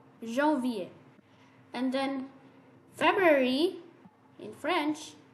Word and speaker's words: janvier: So janvier, January. So you pronounce January in French, Jean, like Jean, and then V, janvier.